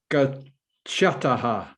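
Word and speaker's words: गच्छतः: It can sometimes be difficult for the English ear, in fact, generally the European ear, to distinguish between the aspirated and the unaspirated, although to the speaker, the native speaker of any Indian language, there would be completely different sounds.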